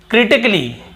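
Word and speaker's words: critically: फिर देखिए क्रिटिकली, क्या होता है क्रिटिकली, यहाँ पर भी ए का उच्चारण नहीं हो रहा है।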